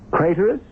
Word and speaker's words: Craterus: Craterous, which rhymes with traitorous.